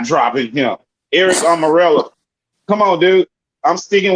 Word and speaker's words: Almirola: His name is Almirola. Almirola. Oh, yeah. Sorry, dude. Yeah. I think Amarillo.